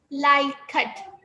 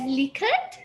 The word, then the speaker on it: Likert: You might have sometimes heard the word pronounced as Likert, which is actually the wrong pronunciation.